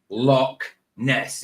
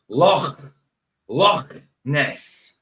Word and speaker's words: Loch Ness: It's not Loch Ness, it's Loch Ness. Not lock. Lock.